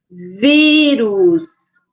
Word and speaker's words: vírus: assento Agudo a outra vírus vírus Qual é o som mais forte o vi e tem acento agudo no i agora aqui água água